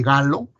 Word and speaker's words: Gallo: Y el hallazgo de este virus, hecho por el virólogo francés Robert Gallo, se escribe pero se lee Gallo, fue todo un boom, porque no habíamos descubierto retroviruses en humanos.